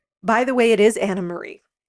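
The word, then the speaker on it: Annemarie: off the show by the way it is Anna Marie not anarie so I just wanted to so please don't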